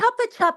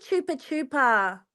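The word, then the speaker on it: Chupa Chups: What the It's a chopa chop. It's not a chupa chupa.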